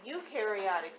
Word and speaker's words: eukaryotic: eat this is the eukaryotic cell you rhymes with dew which means the eukaryotic